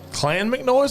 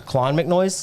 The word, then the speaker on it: Clonmacnoise: say this all fucked up, the Annals, which is spelled very, very close to anal, of Clonmacnoise. What? Clonmacnoise. Clan McNoise or Clon? Clonmacnoise.